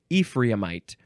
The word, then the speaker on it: Ephraimite: Here we go with Ephraimite. Yeah, that's how you say it. Ephraimite. So it's the same word as the last word with I-T-E at the end.